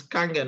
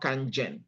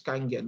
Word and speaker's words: Kangen: mix our Kangen water it's Kangen not Ken it's Kangen that's how it's pronounced right now taking a